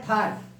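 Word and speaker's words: thought: टी आ जाए तो जी एच का प्रोनाउंसिएशन नहीं होगा। पहला है थाट, थाट, फाइट, नाइट। इस तरह से हम देखते हैं कि टी के पहले अगर जी एच आता है तो उसका प्रोनाउंसिएशन नहीं होगा, उसको पढ़ेंगे ही नहीं।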